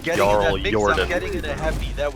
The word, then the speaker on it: JarlJordan: gonna do the it is actually pronounced JarlJordan.